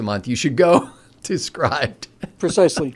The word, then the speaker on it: Scribd: to a service called Scribd or Scribd. I don't know how to pronounce it because it doesn't. It should be a short I because it's SCRIBD. And it allows you to